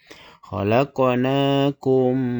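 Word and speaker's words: خلقناكم: Cara bacanya yaitu mim mati dimasukkan ke huruf mim yang kedua. Ini bacanya ditahan dengan dengung. Khalaqnakum.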